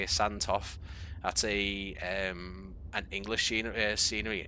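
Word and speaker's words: Sandtoft: That's how you say it, Santoff.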